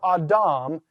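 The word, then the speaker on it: Ἀδάμ: Notice the next one, Adam. Smooth breather or rough breather? All right, that's going to be a smooth breather, and therefore Adam, the word for Adam, is the proper pronunciation.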